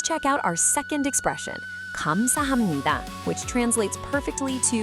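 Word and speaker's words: 감사합니다: Kam-sa-ham-ni-da.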